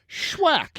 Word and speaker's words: Swackhammer: IED his name yeah swackhammer swackhammer schwack you got to say it like that oh it's awack Hammer